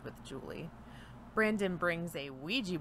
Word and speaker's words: Ouija: Julie Brandon brings a Ouija board or we gia as he keeps stressing that's how it's pronounced but I never pronounced it like that so it just feels